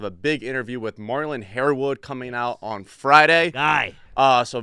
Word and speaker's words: Harewood: I mean, it's Harewood. It's a 2-syllable name. I feel like it's probably one of the easiest names in football to pronounce.